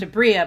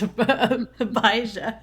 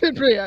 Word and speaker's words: Abria: the name notah not I may not be 100% sure if it's pronounced a Bria I know it's not pronounced abah it's a Bria yeah it's a Bria